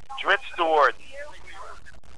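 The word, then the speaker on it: Drizzt Do'Urden: him so I could say, how do you pronounce his name? It's your character. Your word is law. Dritz Stewart. This is Bob Salvatore. I say Dritz Stewart.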